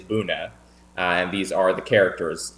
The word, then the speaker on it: Buna: And the word, the English pronunciation of that word is Buna.